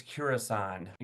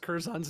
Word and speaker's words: Curzon: And I think, to me, it was poignant when she said that was Kurasan. I'm, not me. I'm chuckling here because you have mispronounced Curzon's name so many ways today.